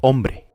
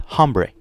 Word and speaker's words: hombre: Él es hombre. Notice that the H is completely silent. It's not hombre, it's hombre.